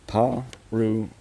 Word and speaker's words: Parrawinna: Parra Parrawinna Parrawinna Parrawinna Parrawinna The emphasis is on the third syllable. We Perfect. Parrawinna Happy days.